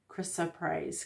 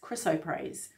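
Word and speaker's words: chrysoprase: the morning Dawn's piece Carrie Chris so I'll spell it for you c-h-r-y-s-o-p-r-a-s-e Krista praise chriso praise for forgiveness and release interesting kind of like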